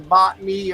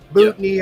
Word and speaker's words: botany: He's got a degree in botany or botney or whatever the hell it's called. I said it right the first time.